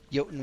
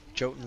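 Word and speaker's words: Jotun: I still say yoten. I think that's never going to change. I don't think I'll ever stop produce pronouncing it that way. Um I don't know why in Guild Wars I decided on Jay the hard Joten sound, but we did.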